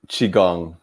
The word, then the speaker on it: qigong: got in king how do you say it qigong yes okay if i mess up just laugh